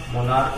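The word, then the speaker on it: monarch: और उसके बाद दूसरा एग्जाम्पल इसका मोनार्क, मोनार्क मतलब सम्राट होता है। इसमें भी देखिए लास्ट में CH है, CH का उच्चारण यहाँ पर क्या है, क है, मोनार्क, इसको मोनार्क कहते हैं।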